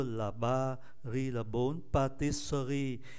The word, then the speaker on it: pâtisserie: Nhưng mà cái âm tiết mang ký tự ơ nó nằm kẹp ở giữa âm tiết 2 và âm tiết 4. Do đó chúng ta không phát âm ký tự ơ này, còn lại ba. Thay vì patisserie thì còn lại là patisserie.